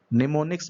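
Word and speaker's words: mnemonics: निमोनिक्स मतलब एम यहाँ पर साइलेंट रहता है, तो इसको बोलते हैं निमोनिक्स।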